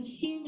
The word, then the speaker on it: 心: We pronounce xin, yes.